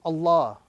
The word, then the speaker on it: Allah: If it is a fatha or dhamma, the rule is we attach a round sound, not a flat sound.